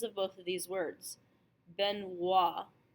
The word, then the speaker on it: Benoit: So the most common is OI, is pronounced wa.